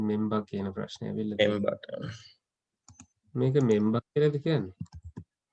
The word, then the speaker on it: Mpemba: Mpemba. මේක මෙම්බා කියලාද කියන්නේ? Mpemba තමයි නේද? P කියන එක pronounce වෙන්නේ නැහැ නේද?